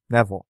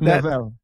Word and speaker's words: Neville: ion and Adrien Nel Neville damn it I did it I can't believe I did that what that can never be pronounced neille that's that's an ongoing